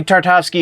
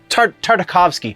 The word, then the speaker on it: Tartakovsky: movie is fixed uh Gandy tartowsky if you do not know I'm and I know I'm saying that yeah no tartakovsky sorry totally mispronouncing his name uh again to tartakovsky